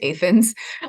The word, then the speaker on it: Athens: But I grew up in Illinois, in this little town called Athens, spelled Athens, but pronounced Athens.